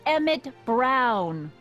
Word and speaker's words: Emmett: That's Emmett Brown. Rhymes with clown, which I'm beginning to think you are.